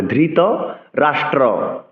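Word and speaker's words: ধৃতরাষ্ট্র: হবে ধৃত রাষ্ট্র উবাচ ধৃত ধরকার ধ মহাপ্রাণ উচ্চারণ করতে হবে ধৃত রাষ্ট্র অনেকে রাষ্ট্র বলে এক্ষেত্রে র ফল উচারণ করতে হবে ধৃত রাষ্ট্র উবাচ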